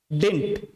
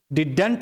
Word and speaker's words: didn't: don't, does not doesn't, did not डिंट, डिडंट नहीं पढ़ना है, इसको डिंट प्रोनाउंस करना है।